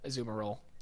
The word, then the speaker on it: Azumarill: seafloor cabin with quite a ways to go Zoomer ill is that how you pronounce it yeah and a Gardevoir so you want one with huge power azumarill not really a physical attacker yeah I'm like